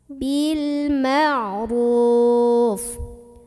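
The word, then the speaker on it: بالمعروف: Maka cara membunyikan lamnya ini jelas. Bil ma'ruf. Roknya ini dibunyikan secara tafkhim karena roknya barisnya dhammah. Maka bacanya tebal.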